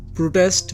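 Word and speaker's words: protest: প্রোটেস্ট বা প্রটেস্ট, একটি হলো আমেরিকান উচ্চারণ আর একটি হলো ব্রিটিশ উচ্চারণ, যার মানে হলো প্রতিবাদ।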